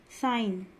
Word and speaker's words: sign: Sign, G silent.